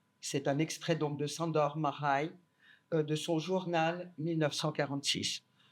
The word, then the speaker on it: Sándor: ne parle pas l'hongrois, qu'il fallait dire Sándor. Parce que c'est comme ça qu'on prononce, et pour moi, je n'y arrive pas, parce que c'est une question de sonorité, et je dis Sándor.